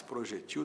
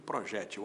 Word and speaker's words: projétil: Projétil paroxítona, que termine L com acento no é da sílaba Gé. Projetil sem acento oxítona. As letras são as mesmas. O acento é que muda.